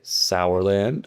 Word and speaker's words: Sourland: So, they just say sour as if it said s o u.